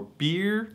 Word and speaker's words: Byrrh: ever heard is pronounced apparently this bottle is pronounced in french more like beard or beer but you know in